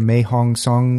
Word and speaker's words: Mae Hong Son: I'm gonna probably say it wrong like the mae hong song loop and that's perfect that's exactly alright I